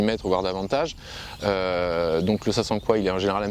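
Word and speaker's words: sasanqua: deuxième espèce qui s'appelle Sasanka ou Sasankwa. Donc là, tout le monde n'est pas d'accord sur la prononciation. Le camélia Sasankwa, moi je le prononce comme ça, a une croissance un peu plus rapide que le japonica.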